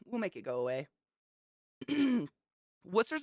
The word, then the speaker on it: Worcester: Worcester's one of those cities where the C and the S has the same sound. Worcester sauce.